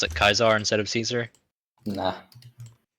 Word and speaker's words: Caesar: C A E S A R Caesar. Yeah, it's it's pronounced Caesar. I'm pretty sure that's the modern pronunciation. I'm pretty sure the original one was Kaisar.